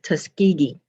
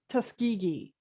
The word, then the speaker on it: Tuskegee: this is xena um the correct pronunciation of the airmen is tuskegee oh thank you so much can you say that one more time tuskegee okay thank you you're